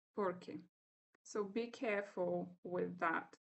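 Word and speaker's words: porque: When we pronounce the two, you can hear that for asking questions, we say por qué, but when we respond with because, we say por qué. So there is no stress, but it's kind of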